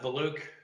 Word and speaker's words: Valuch: so we make sure that I'm also not mispronouncing it the your full name and spelling Dennis Scott valuk D NN i s s c o TT